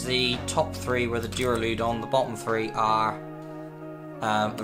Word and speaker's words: Duraludon: Here is the Duraludon.